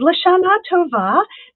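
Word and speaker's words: L'shanah tovah: Uh, and Lashana Tova, that is how you say this um this saying right here.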